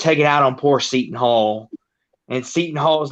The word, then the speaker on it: Seton Hall: how it was pronounced. Seton Hall. It's Seton.